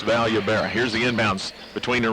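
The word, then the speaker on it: Vallobera: there will tell you the double l at the start of a name is pronounced like a y that's valuable here's the inbounds between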